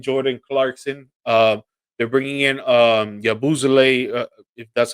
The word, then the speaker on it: Yabusele: They're bringing in Yabuzele, if that's how you pronounce his Yeah, name, the French dude. Yabusele.